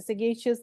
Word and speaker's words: sagacious: और इसमें जो सगेशियस में जो जी है, again it will be जी एज इन गोवा. जी एज इन गोवा जैसे प्रोनाउंस करते वैसे. सगेशियस decisions in times of crisis.